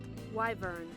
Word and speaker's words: wyvern: what a word right wyvern wyvern says google why burn it winged two-legged dragon with a barbed tail why burn wyvern wyvern in my head